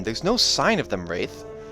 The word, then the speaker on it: Rathe: Rathe, R-A-T-H-E, not spelled like a ghost.